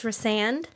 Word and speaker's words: Rhysand: And that narrator pronounced in the first book Rhysand's name Rhysand. Oh, I know. The whole time. I know. And so I corrected her and said it's Rhysand.